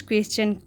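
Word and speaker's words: question: यानी कि उस स्ट्रेंज क्वेश्चन को, यानी कि उस अजीब प्रश्न को। तो इसे क्वेश्चन पढ़ते हैं क्योंकि एस के बाद जो TI1 होता है ना, तो उसकी प्रोनाउंसिएशंस चन होती है, क्वेश्चन।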